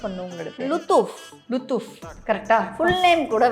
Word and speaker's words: லுத்தூஃப்: எக்ஸாக்டா எப்படி ப்ரொனவுன்ஸ் பண்ணுவோம்? லுத்தூஃப்.